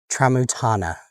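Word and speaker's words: Tramuntana: Traotana.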